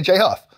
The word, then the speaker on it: Jay Huff: It's only 2 syllables, man, and they go together.